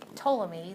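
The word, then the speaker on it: Ptolemy: thing so the toy toomy the p is silent um the toic model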